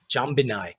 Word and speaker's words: Jambinai: Yeah, Jambinai.